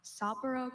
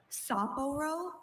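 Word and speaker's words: Sapporo: Saporo. Can I have the definition? Soporo is a city on western Hokkaido, Japan. Uh, can are there any alternate pronunciations? Saporro or Saporro.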